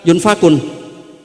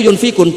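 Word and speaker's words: يُنفِقُونَ: artinya kalau kamu miskin pas bacanya yunfakun Qurannya itu yunfikun bukan sesuatu yang harus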